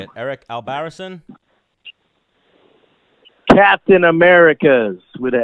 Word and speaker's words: Albarracin: Stan the Man here, Dennis the Menace Bermudez, and now we're joined by, how do you say it, Eric Albarracin? Captain Americas with an S. Eric Albarracin.